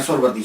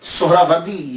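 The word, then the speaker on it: सोहरावर्दी: हम लोग ऐसे अक्सर बोल देते हैं सुरवदी सुरवदी ये अक्सर हम बोलते रहते हैं। मैं मैं गलत नहीं कहता लेकिन ज़हन में ये तो होना चाहिए ना कि असल प्रोनाउंसिएशन असल तफज़ क्या है? असल में ये सोहरा वर्दी या तो निस्बती है तो लफज़ जो है वो सोहरा वर्द है।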